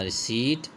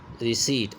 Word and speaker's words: receipt: Number 7 पे देखें, when you पे अ bill you should obtain a रिसीट, meet, MEET, meet, और इसका राइम है रिसीट, RECEIPT, इसमें P साइलेंट होता है, रिसीट।